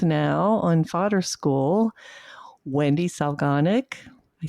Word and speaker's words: Solganik: on Fodder School, Wendy Solganik. I said that right, Wendy, right? Organic. Organic. Organic. Just like it's spelled.